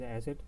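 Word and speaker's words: Eszett: We identify this as asset, but in the when we speak it, the sound is not asset, is more like of a double S, but for the identification of it, we call it asset.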